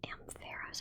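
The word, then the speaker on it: Ampharos: A ferros, I believe. Oh, it's a faros. Oh, I hate that. I always thought it was Aeros.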